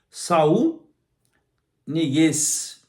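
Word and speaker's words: Saúl Ñíguez: Saul Niguez, né? Assim que a pronúncia é essa.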